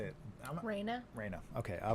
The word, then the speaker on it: Raina: Raina.